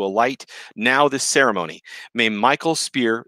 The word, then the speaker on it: Mikhail: May Michael's spear, if you want to say it correctly, it's Mikhail, but I'm just going to say it Michael for y'all because then you'll wonder what the hell I'm saying.